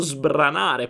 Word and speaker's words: sbrana: Whereas when Italians speak normally they don't control the language, and so he modified the pronunciation of the verb sbranare to make it stronger.